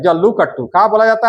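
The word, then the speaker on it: जल्लीकट्टू: जल्लू कट्टू क्या बोला जाता है रे भाई आपका? जल्लू कट्टू। है ना? थोड़ा सा प्रोनाउंसिएशन गलती कीजिएगा तो मारपीट हो जाएगा।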